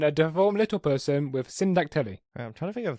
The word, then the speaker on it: syndactyly: schizophrenic woman and a deformed little person with senodactyly. Okay, you gotta be able to pronounce the word, because otherwise I don't know what... Syndactyly.